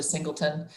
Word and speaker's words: Singleton: I mispronounced his word or his name earlier, and I think I was referring to him as a former NFL linebacker. It's actually Singleton.